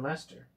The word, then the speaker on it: Leicester: After a period of inactivity, John Coltman, a hosier from Leicester, I think it's Leicester, is how you say that.